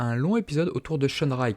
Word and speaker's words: Shunrei: Ici, dans cet épisode, nous avons le droit à un long épisode autour de Shunrai qui se prononce en réalité Shunlei.